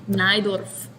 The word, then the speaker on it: Najdorf: poland so for sure his name is pronounced naidorf has to be has to be because